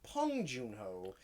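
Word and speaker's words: Bong Joon-ho: best director yeah winner bong joon ho although apparently it's pronounced pong junho because the yeah because of the way korean english yeah because because spike lee kept saying pong and they asked i'm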